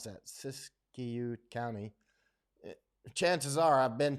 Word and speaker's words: Siskiyou: How do you pronounce that? Siskiyou County.